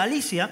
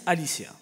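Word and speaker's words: ἀλήθεια: se escribe aletheia, Ça s'écrit Aletheia, pero se pronuncia Alicia mais ça se prononce Alicia.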